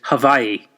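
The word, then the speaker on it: Hawaiʻi: I've been told is Hawaii so from the W is a V its Hawaii not Hawaii its Hawaii but I'm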